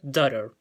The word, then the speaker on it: daughter: También se puede escuchar en algún tipo de pronunciación tratando de imitar el acento europeo. Pero si lo llevamos al inglés americano sería daughter.